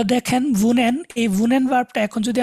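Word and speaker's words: wohne: এটা তো দেখেন ভুনেন, এই ভুনেন ভার্বটা এখন যদি আমি ডুর সাথে ইউজ করি তাহলে কি হবে ভার্বটা, ডু।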